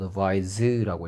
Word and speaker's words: advise: advise라고 읽고요. z 발음이고요.